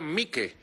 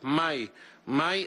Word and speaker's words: Mike: Mike, si fuera en español, en la escuela le diría Mike, pero está escrito Mike y se pronuncia Mai Aguiar Fagundes.